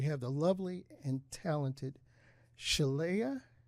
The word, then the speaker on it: Shelea: And we have the lovely and talented Shelea. I said it right? Shelea. Perfect. Okay.